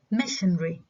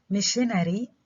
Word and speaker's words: missionary: There is a tendency to reduce 4-syllable words with such forward stress. يعني كلمات من 4 مقاطع فيها الستريس على المقطع الأول to 3 syllables. نعمل له reduction ل 3 syllables. متى؟ where R إذا كان فيها a R sound that occurs between 2 unstressed syllables. إذا فيها R sound between 2 unstressed syllables, such as missionary. Okay, so instead of saying missionary بحكي missionary.